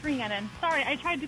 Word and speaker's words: Reannon: So is it's pronounced Reannon? Reannon. Reannon.